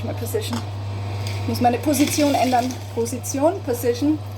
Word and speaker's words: Position: Ich muss meine Position ändern. Position. Same word, just differently pronounced.